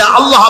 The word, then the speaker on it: আল্লাহ: আল্লাহ পাকের উচ্চারণটা হচ্ছে আল্লাহ পাকের নাম হচ্ছে আল্লাহ মুখটা একটু গোল হয়ে যাবে বলেন আল্লাহ আল্লাহ [চিৎকার